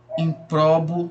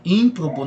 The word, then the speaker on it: ímprobo: Nobel, improbo, né? Ímprobo, na verdade, né?